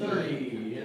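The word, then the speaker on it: thirty: Yeah, just FYI, y'all, for your information, yeah, the smaller numbers are on that second syllable, and the larger numbers are on that first syllable.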